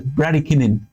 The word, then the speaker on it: bradykinin: I think it's pronounced as bradykinin.